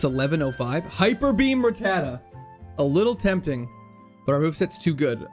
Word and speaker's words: Rattata: Hyperbeam Rattata. A little tempting, but our move set's too good. I think we're not going to do it. How do you pronounce Rattata? The last T is silent. Ratta.